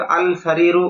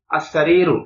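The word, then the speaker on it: السرير: এখানে কিন্তু আল সারিরু উচ্চারণটা ভুল, আস সারিরু খাটটি।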